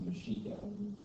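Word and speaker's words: Mexica: area or hidden anyways it was actually a Spanish mispronunciation for one of the words that one of the other groups had for the as the aste actually called themselves mishika they were the mishika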